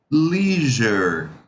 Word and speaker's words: leisure: Cuidado porque esse S aí, ele tem a pronúncia de Z. Então, não a pronúncia é leisure, leisure, leisure.